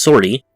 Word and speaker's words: 50RT: According to Wikipedia, 50RT, pronounced Sortie, was a tactical droid whose origins stretched back to the time of the Old Republic.